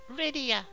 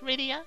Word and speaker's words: Rydia: you protected me I'm Rydia it's like Lydia only Japanese where they can't pronounce the L so it's ryia instead of Lydia it's really weird call